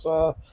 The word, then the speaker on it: saki: Saki is pronounced sake.